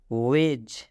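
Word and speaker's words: wedge: वेज, वेज में भी डी के बाद जी है। यूं कहूँ तो जी से पहले डी है, तो जब जी से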